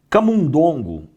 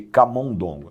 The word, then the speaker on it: camundongo: Camundongo, ao invés de camondongo, essa aqui, acredito que não usamos tanto, né?